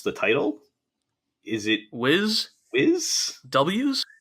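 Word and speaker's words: W'z: Is it Wiz? W's? It's spelled W apostrophe Z, which is Yeah. It sounds like Wiz.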